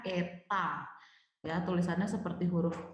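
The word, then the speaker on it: η: ini disini efisiensi dilambangkan dengan huruf Yunani dibacanya Eva dan tulisannya seperti huruf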